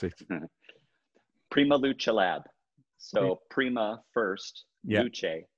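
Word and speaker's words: PrimaLuceLab: I'll let you pronounce it. Prima Luce Lab.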